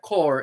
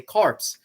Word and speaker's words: corps: and bugle core and that core is spelled c-o-r-p-s but it's french that's why you don't say corpse if you put an e on it it becomes corpse which refers to a body and uh right but